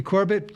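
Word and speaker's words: Corbet: Brady Corb cor corat how you pronounced his last name Corb and like sorbet cor you're probably going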